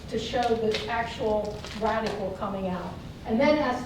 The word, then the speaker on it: radicle: This is the radicle, and that's the root. But it's kind of like radical, dude, but it's spelled differently.